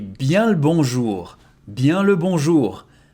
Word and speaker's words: bien: I, E, N together it becomes Bien Bien le bonjour Again, very old fashion.